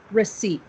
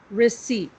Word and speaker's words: receipt: look at this word it looks like maybe we would say recepta or recipe or something like that yeah yeah yeah of course because it's spelled so funny but we say it receipt okay good i'll say it one more time and then everyone repeat it's really one sound receipt and there was